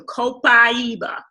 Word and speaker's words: copaiba: except after C so the a is pronounced I so copaiba alright so don't eros copaiba now i'm going to